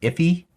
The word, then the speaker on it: IIFE: known as an iife sometimes i think it's pronounced iffy all right so keep